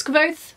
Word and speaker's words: Kvothe: I did scour the internet for interviews with the author to see how he pronounced the main character's name, which is Kvothe, so I'm saying it right.